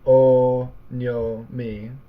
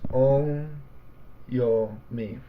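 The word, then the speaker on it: on'yomi: the syllables is not oh no me or if you prefer the breakdown of it into Morris is not oh no me it's on yo me so four more is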